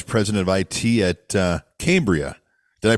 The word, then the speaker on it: Cambria: the Executive Vice President of it at uh Cambria did I pronounce it right is it Cambria you absolutely did John thanks for having me